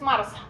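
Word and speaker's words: MRSA: Mars que es Mars se pronuncia Mars pero se escribe m RS meilin resistance estafilococus aus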